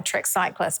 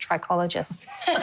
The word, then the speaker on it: trichologists: So I went to talk to Rory and Carla, who I thought were trick cyclists, but it turns out it's pronounced trichologists.